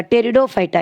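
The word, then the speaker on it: Pteridophyta: ये सभी टेरिडोफाइटा का, टेरिडोफाइटा it should P should be silent, टेरिडोफाइटा का एग्जाम्पल्स है।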